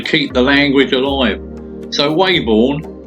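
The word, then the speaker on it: Weybourne: the language alive so wayborn pronounced webon get it right webon but that's 3 miles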